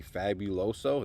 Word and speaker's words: Fabuloso: Over here we have the Ultra Strong Fabuloso. I think I'm pronouncing that incorrectly. Fabuloso, there it is.